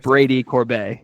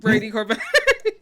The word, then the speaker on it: Brady Corbet: Why did I say his name wrong? Uh, start over. Brady Corbet. Brady Corbet.